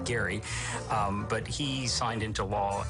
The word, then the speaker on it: Gerry: The word comes from 1812, and Elbridge Gerry, it's kind of weird that we call it gerrymandering because he pronounced his last name Gary, but he signed into